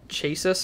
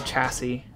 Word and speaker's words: chassis: all right um also i was pronouncing this like ch chasis or something or chassis it's called a chassis i realized that after